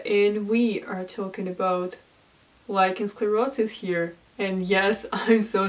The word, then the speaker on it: lichen sclerosus: name is Maria and we are talking about lichensclerosis here and yes I'm so sorry in literally every previous video I was calling this disease licensed sclerosis because I was absolutely 100 sure that that